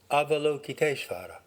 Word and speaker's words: Avalokiteshvara: Avalokiteshvara would be an approximate American English pronunciation. Avalokiteshvara.